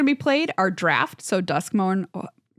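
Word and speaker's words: Duskmourn: played are draft so dusk M I said it right that time but I almost said dusk Mound I swear to God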